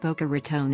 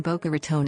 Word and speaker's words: Boca Raton: In particular, the raton in Boca Raton is pronounced as /r2n/ instead of /rtn/. The latter is a common mispronunciation by non-natives to the region.